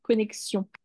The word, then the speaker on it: connexion: ça s'écrit comme ça là il y a bien le le X qui faitieux connexion après c'était le mot